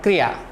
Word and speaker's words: क्रिया: हम इसको क्रिया बोलते हैं जबकि क्रिया होता नहीं है। वास्तव में उसका उच्चारण किस प्रकार होना चाहिए, कै हलंत अगर हम